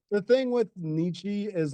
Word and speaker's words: Nietzsche: in the comments yeah like the thing with Nietzsche is like I've always said in Nikki I know it's supposed to be pronounced Nietzsche but when I'm reading like I just don't